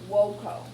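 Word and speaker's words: voco: All right, let's start with the verb woko. All right, so when you see a verb, it is listed like this. Woko, wokare. Remember V is pronounced like W?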